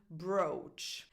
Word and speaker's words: brooch: One, which is a very big exception and is just one word, and it's the word brooch. And this happens in this word alone that I know of.